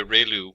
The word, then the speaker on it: ReLU: we have the ReLU, it's pronounced like ray, the ray from the sun, and lu, like a name, so ReLU function.